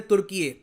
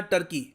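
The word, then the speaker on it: Türkiye: देखो यहाँ पे आपको समझना होगा कि ये टर्की के जो लोग खुद को बुलाते थे तुर्की, जो इसकी प्रोनाउंसिएशन है बाद में थोड़ी सी करप्ट हो गई जब ब्रिटिश लोगों ने बुलाना स्टार्ट कर दिया इस रीजन को सीधा टर्की।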